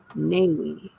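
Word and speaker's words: NAIWE: Being put on by it's an organization for it's called the National Association of Independent Writers and Editors, and I believe it's pronounced NAWI.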